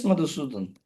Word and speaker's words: Madhusudan: And yes, Madhusudan. Am I saying your name correctly? Yes, sir. Pronounced Okay, go very ahead.